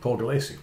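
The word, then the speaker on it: Paul Gulacy: Paul Galassi. Yeah. Yeah, this is a Paul Galassi cover.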